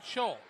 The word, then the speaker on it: Scholl: Austin Scholl. Thank you. Hole with an S on the front of it.